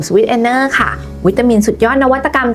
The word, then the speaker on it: Swiss Ener: แบรนด์ Sweet Energy จะ เปลี่ยน ชื่อ เป็น Band Sweet enner ค่ะ โดย ตัด คำ ว่า g กับ Y